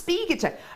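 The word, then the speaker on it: spiga: heard of one before spiger chain spiger chain no it's sper chain and none of us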